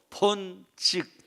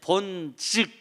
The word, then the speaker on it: 본즉: 본죽이 아니고 본즉 따라하세요. 본즉. 예, 발음을 정확하게 해야 됩니다.